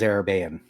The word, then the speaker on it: Arabane: As I mispronounced my own name. Vaguely. It is Arabane, but I'm lazy.